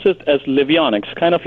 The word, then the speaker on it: Livionex: you pronounce the name of it uh we pronounce it as liionic kind of like heronian Harry Potter we say liionic the play on living metal ions and X